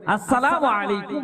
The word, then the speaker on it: আসসালামু আলাইকুম: সালাম দিতে গেলে সরওয়ারে দো আলম নবী পূর্ণাঙ্গভাবে যেটা দিয়েছে, শুরুর হামজা উচ্চারণ করে আসসালামু আলাইকুম ওয়া রাহমাতুল্লাহ, উত্তর দিতে হবে ওয়ালাইকুম না ওয়ালাইকুম আসসালাম ওয়া রাহমাতুল্লাহি ওয়া বারাকাতুহু।